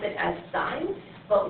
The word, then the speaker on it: sine: And it's actually spelled out as S-I-N-E. So we pronounce it as sine, but when we abbreviate it, we just write S-I-N. But we're still going to pronounce it as sine.